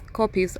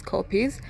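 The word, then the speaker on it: kopjes: life on Earth ecologically important to these copious pronounced as copies of I've been saying COPD it's copies are an attractive feature of the Serengeti landscape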